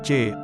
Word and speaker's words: Qi: Bila Anda pernah diobati dengan tusuk jarum, Anda mengalami sirkulasi energi bioelektrik, yang disebut Qi, diucapkan C, oleh bangsa Cina, dalam badan Anda.